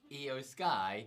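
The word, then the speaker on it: IYO SKY: it's not eos right it is in fact eo sky ah and it's not io as in the japanese pronunciation of eo it's i y o just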